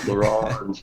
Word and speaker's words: L'Orange: MC LaOrange, and L'Orange, yeah. I think that's how you pronounce it.